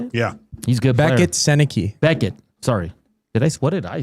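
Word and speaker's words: Sennecke: Brett Seneca, is that how you say it? Yeah, he's good. Beckett Seneke.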